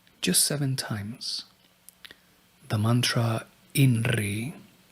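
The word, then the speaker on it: INRI: seven times the mantra inry the letter I pronounced e will being bring a gentle vibration to the chakras of the head particularly that one associated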